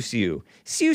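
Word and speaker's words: Xiu Xiu: Is it pronounced Shu Shu or Siu Siu? Siu Siu.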